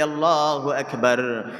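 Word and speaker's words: الله أكبر: আপনি যদি আল্লাহু আকবার এই শব্দটাকে জিহ্বার গোড়া থেকে একটু আগে বাড়ায়, যদি কাফের উচ্চারণ না করে গলা থেকে বলেন তাহলে এর অর্থ হবে আল্লাহ দুলাবালি যুক্ত।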